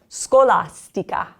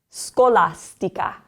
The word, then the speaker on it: scolastica: Also, this one's SC is followed by an O. This C is followed by an A. So both of them have hard sounds. Scolastica. Scolastica.